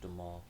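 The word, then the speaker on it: Duhamel: father played by josh de mal or how do you pronounce it do a mill it's josh de maul well he was our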